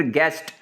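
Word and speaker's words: guest: फिर गेस्ट, ये देखें ये यू आ जाए तो ये यू साइलेंट है, गेस्ट।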